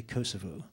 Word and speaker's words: Kosovo: um and uh well we would pronounce it Kosovo you would say Kosovo I'm not sure we'd